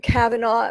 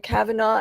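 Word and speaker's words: Kavanaugh: the supreme judge kava Cavanaugh that's how you pronounce his name Cavanaugh and all the issues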